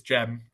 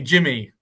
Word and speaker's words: Cem: It's Gem. I know it's spelt CEM.